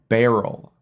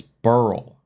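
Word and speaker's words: Beryl: that's absolutely dumb like all the news people call it Barrel it's not Barrel it's burl b e r y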